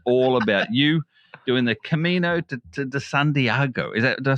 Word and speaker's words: Camino de Santiago: And this is all about you doing the Camino to Santiago. Is that Did I say it right? You said it right. Camino de Santiago.